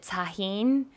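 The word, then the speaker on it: Tajín: that um thumb I'm gonna mess at this pronunciation probably but Tajin tajin ta g I in i n it's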